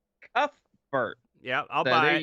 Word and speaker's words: Cuthbert: It is pronounced Cuthbert. Cuthbert.